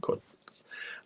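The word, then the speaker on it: Cotlets: Marion says William is right on how to pronounce applets and cutlets. Oh, it's not apple cole. No, applets and cutlets.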